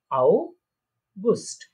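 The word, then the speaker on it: August: আউগুস্ট, অগাস্ট যেটা আমরা বলি ইংলিশে সেটা আউগুস্ট, ঠিক আছে?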